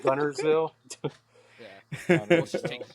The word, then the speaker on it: Guntersville: How do you say Guntersville? Gunnersville. He's Gun- Hey, he gets it right. Bobby calls it Gunners? Gunther, so he Yeah. puts a TH on it.